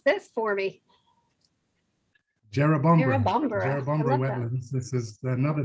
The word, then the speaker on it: Jerrabomberra: Okay, pronounce this for me. Jerrabomberra Jerrabomberra.